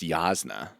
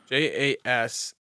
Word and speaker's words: Jasnah: It's JAS like NAH or something. JASNAH. I looked it up. It's like Jasna. yeah. Jasna colon. It's Yasna.